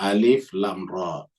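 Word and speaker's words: الر: tilka ayatul kitabil Hakim jadi bacanya alif lam ro ya Kenapa karena namanya huruf muqat huruf muqat Itu adalah huruf yang dibaca satu satu terpisah muqot itu artinya terpotong-potong terpisah-pisah ya jadi baca alif lam ro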